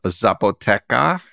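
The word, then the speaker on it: Zapoteca: Uh, your ancestry was indigenous was Zapoteka. Is that pronounced correctly?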